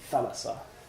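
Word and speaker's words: θάλασσα: Actually, thalassa. Pronounced with the accent.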